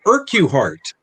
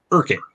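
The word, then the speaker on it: Urquhart: he's he's looking for a uh man named irkuhart which is actually pronounced urkin um and uh he goes into the hotel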